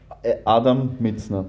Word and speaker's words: Mizner: Adam Mitzner. Mitzner. Ich meine, eigentlich wäre es ja englisch ausgesprochen.